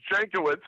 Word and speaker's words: Jankiewicz: show me that kindness it's jancowitz but I've heard of mispronounced every which way there you go jankowitz all right yeah I wouldn't have guessed that by the way it's spelled which at the end